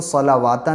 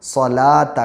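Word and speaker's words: صلاة: ये वाव और अलिफ़ ये साइलेंट हैं और यहाँ पे वाव लगा हुआ है, तो इसको सलावाता नहीं कहेंगे बल्कि इसको सलाता कहेंगे, वाव नहीं पढ़ा जाएगा।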